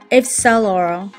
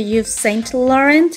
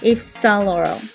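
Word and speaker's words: Yves Saint Laurent: আমেরিকানরা এবং most of the people এটাকে বলে থাকে হচ্ছে ইউ সেন্ট লরেন্ট, যেটা হচ্ছে স্ট্রেইট প্রোনাউন্সিয়েশন। বাট অবভিয়াসলি এই ডিজাইনারকে ইটালিয়ান ল্যাঙ্গুয়েজে, এবং অরিজিনালি দে উইল প্রেফার যে আপনারা YSL কে পুরো ফর্মে বলবেন ইফসালোর।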